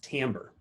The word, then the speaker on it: timbre: And all of these can contribute to what's known as timbre. I know it's spelled like timber, but it's timbre.